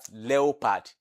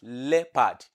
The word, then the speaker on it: leopard: pronounce it wrongly because most of you will pronounce it as leopad. But it's not pronounced as leopad and it's not pronounced as leopad. But it is pronounced as leopard. Leopard. The O in that uh spelling is not pronounced. The O in the spelling is not pronounced. It is the E that is pronounced.